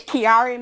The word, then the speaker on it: Chiari: I know that you had to live with, and now please excuse me if I pronounce this incorrectly, Chiari malformation. Can you tell us about that? It's Chiari malformation.